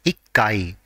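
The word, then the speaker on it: 一階: care of the pronunciation even though one is ichi for the first floor and whenever the flow number is ending with one the part corresponding to one has to be pronounced as ikai for example 11th floor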